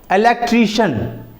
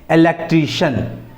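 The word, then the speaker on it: electrician: राजनेता जो होते हैं और मैजिशिन इसमें भी स्पेलिंग वही है एम ए जी आई सी आई ए N magician उसके बाद है इलेक्ट्रिशियन जो बिजली का काम करने वाले होते हैं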